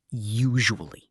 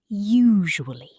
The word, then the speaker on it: usually: Let's practice the word usually. U-S-U-L-L-Y. It has 4 syllables. Yes, many learners pronounce it too quickly. Let's say it slowly together. Usually.